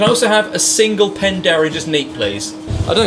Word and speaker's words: Penderyn: Penderyn. No, Penderyn. Penderyn.